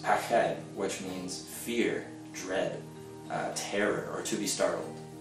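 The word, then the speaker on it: פחד: to represent fear, and one of them is pronounced pached, which means fear, dread, terror, or to be startled.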